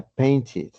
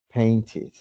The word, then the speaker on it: painted: Su sonido es it, it. Entonces, la pronunciación del verbo pintar en pasado simple sería painted, painted, painted.